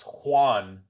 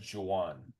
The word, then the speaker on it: Juan: Not pronounced Juan, but Juwan.